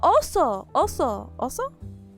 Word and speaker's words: oso: Oh, oso.